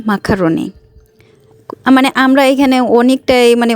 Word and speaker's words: macaroni: এই যে পাস্তাটা, এইটাকে অনেকে পাস্তা বলেন, ম্যাকারনি, কোরিয়ান উচ্চারণে হচ্ছে মাকারনি।